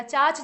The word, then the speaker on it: चच: और चच का जो भतीजा है या चाच जो है, चच या चाच दोनों नाम से ये मिलते हैं। चाच इन्हें प्रोनाउंसिएशन के तौर पे बोला जाता है।